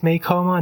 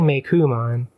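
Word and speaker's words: Meicoomon: No, they're saying Meikumon, but it's officially romanized as Meikom. But if you read, like, Japanese materials, it is spelled with, like, ku, katakana, but then written in English as ko, pronounced ku.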